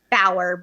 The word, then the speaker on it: Bauer: then Bauer, B as in boy, Auer, like Eddie Bauer. Or if you were a 24 series fan, I say Jack Bauer.